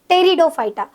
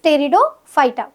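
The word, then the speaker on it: Pteridophyta: कौन सा है ब्रायोफाइटा थर्ड डिवीजन होता है टेरिडोफाइटा इसकी स्पेलिंग पी से स्टार्ट होती है बट प्रोनाउंस टी से रहेगा दैट इज टेरिडोफाइटा अब ये जो थैलोफाइटा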